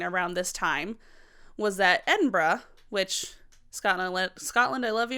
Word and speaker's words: Edinburgh: So what was also happening around this time was that Edinburgh, which Scotland, I love you, and I didn't want to be one of those people that tried to mispronounce your capital.